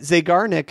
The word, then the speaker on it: Zeigarnik: I think it's pronounced the Zeigarnik effect. You got it. Zeigarnik effect.